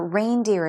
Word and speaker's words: reindeer: So the same goes for reindeer as well. the proper way to say reindeer would be reindeer, even in the plural form.